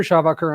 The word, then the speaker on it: Schawacker: Um, so Shabbacher, I'm the CEO and co-founder of a company called Nearshore Cyber.